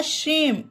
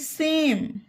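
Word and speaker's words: same: रहेगा श और मे से में नहीं होगा सेम ये ई का कोई इसम उच्चारण नहीं है एल ए एम ई लेम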